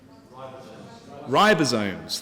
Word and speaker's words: ribosomes: how do you how do you say it ribosomes thank you for your help you might need to give me some more in a bit so ribosomes so it creates ribosomes and ribosomes interestingly are